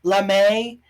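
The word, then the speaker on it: lamé: craft foam and some lame fabric okay I know it's supposed to be pronounced lamay but there's no they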